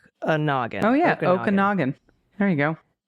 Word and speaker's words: Okanogan: And uh as to the other hilarious one, Okanagan. Um that is one of the most beautiful areas and is pronounced Okonogan. Okay. All sorts of Oogan. Oh yeah. Okanogan.